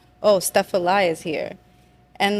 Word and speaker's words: Stephalie: study of words and my given name is stepal and it's spelled step Al li like quite literally and